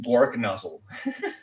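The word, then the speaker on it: Gorknozzle: Okay, I put an A at the end of it. That's okay. Okay, whatever version of it. Okay. It's Gork nozzle. Gork. Okay. Thank you. Thank you for the official pronunciation.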